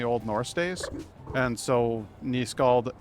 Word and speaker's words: nyskald: I'm nyskald, by the way. In case you were wondering how to pronounce the name, it's a Norse thing.